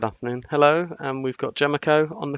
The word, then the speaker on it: Jemacho: it's pronounced Jemacho.